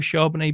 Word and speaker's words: Charbonnet: should be higher in ranks are you a Chardonnay believer or not so before I dove in I thought to myself like I'm not really interested in Zach you know is it charbonnet so that's good to know that's how you